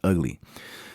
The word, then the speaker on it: VGLY: 5, and it's Ugly, spelled VGLY, but it's pronounced Ugly.